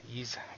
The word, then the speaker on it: Ys: what do we got East two one and one and two ease ease sorry I always mispronounce that uh ease one and two Chronicles